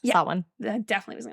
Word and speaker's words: Samhain: Oh, Samhain. That one. Wiccan Halloween. Yeah, it doesn't look like it should be pronounced that, but it's, Samhain.